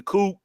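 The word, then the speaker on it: Coup: You don't pronounce the P. It's the Coop.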